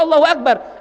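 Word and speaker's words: أكبر: Allahu Akbar. Iya, tapi kan kamu bacanya Akbar. Enggak boleh panjang itu bnya. Kalau bnya dibaca panjang, Akbar.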